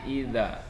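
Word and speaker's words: إِذَا: Yang pertama di idza. Idza itu ini bacaannya mat tabi'i namanya. Dibaca dipanjangkan selama 2 harokat atau 2 ketukan.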